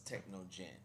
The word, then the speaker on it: Technogen: by technogen technogen um it spells t e c h n o gen so it's techno Jen that's why I'll just